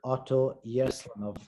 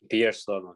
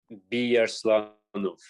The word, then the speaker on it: Biyarslanov: We're joined today from Canada with Otto Yerslanov. Have I said that right? Biyarslanov, yeah. The B is silent, isn't it? Biyarslanov. Okay.